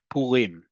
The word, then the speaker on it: Purim: on this as well, tell me that those are long vowels, u and e. And the way I can make sure that I pronounce it, u and e, is if the emphasis on the last syllable, like I just said, where the default is in modern Hebrew. Purim, Purim, Purim.